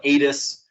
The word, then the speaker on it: ADAS: the system so uh there's many different ways to pronounce it i pronounce it a-d-a-s some people call it atis some people call it other stuff so i've always just